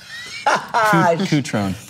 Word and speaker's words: Cutrone: Cutron.